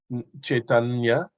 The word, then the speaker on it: Caitanya: don't say the why of course you can pronounce it the Sanskrit way chaitanya and that's a Sanskrit